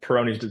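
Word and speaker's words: Peyronie's: Now there's a a new treatment for is it peronis disease? Is that how you say it? Yeah, peronis. That's correct.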